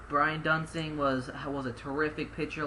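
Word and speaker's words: Duensing: number four we got Brian duning if I'm if I I pronouncing it correctly yeah that's correct Brian duning was was a terrific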